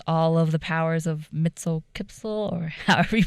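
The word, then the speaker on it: Mxyzptlk: when he gets all of the powers of mitel kipel or however you pronounce it Mixel yeah I think I don't is that the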